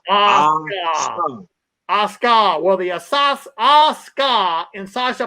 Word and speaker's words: Asuka: I always want to say Osaka. This right here needs to be. Hear me. Unlike your adversary, I'm an A-team member. I'm going to teach you how to say her name is Asuka.